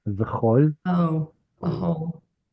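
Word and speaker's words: וְכָל: This one's the tricky one. It's actually a short O sound. V'chol.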